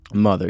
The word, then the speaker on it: MOTHXR: Mother, yeah, spelled with an X. With an X, where the E would go.